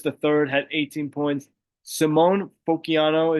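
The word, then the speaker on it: Simone Fontecchio: Simone Fociano is how you say name.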